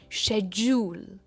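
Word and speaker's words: schedule: First वाला syllable है इस वर्ड में स्ट्रेस होता है, शेड्यूल।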